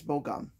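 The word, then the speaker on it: Bo-gum: things like first off i butchered bokum's name yesterday it's bogum that's how he says it i am sorry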